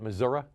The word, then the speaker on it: Missouri: I believe that's the proper way to pronounce it, isn't it, Missouri? Close enough. Close enough. That's right. That's how locals pronounce it.